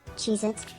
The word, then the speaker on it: Cheez-It: My name, Cheez-Its, is pronounced as Cheez-It with the emphasis on the cheese syllable.